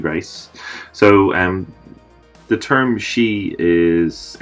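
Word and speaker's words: sidhe: so and the term she is s idh evil is pronounced she which is a Gaelic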